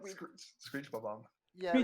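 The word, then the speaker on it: Bob-omb: It's like we, Screech Bob Omb.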